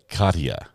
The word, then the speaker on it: Katia: Katia. 3 easy syllables. And you didn't say it correctly. It's neither. Katia.